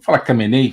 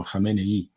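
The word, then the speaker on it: Khamenei: cenei ou renei né cenei fica mais fácil mas parece que a pronúncia é algo assim como renei eh eh e Eh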